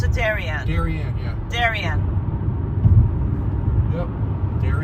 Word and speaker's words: Darien: the northern how does one pronounce Darien I pronounce it Darien Darien yeah Darien yep there he is Connecticut